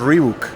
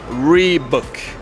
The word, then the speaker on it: Reebok: Entonces, se pronuncia Reebok. Se pronuncia esta palabra, la O es clave aquí. La O es mucho más suelto, más suavecito.